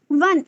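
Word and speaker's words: one: अगला word we यूज से वी से अ ₹1 note because the ओ इन वन is pronounced as is pronounce eight W इन वन a consonant sound वन वन से पहले ए क्यों लगाया हमने?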